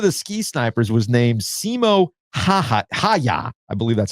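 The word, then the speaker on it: Simo Häyhä: You have to pronounce all the vowels. Or is it hey ya?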